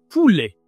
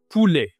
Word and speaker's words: poulet: Chicken, ça se dit tout simplement le poulet. Le poulet en français. Attention, ne dis pas le poulet, dit le poulet. C'est la voix grave, hein, poulet.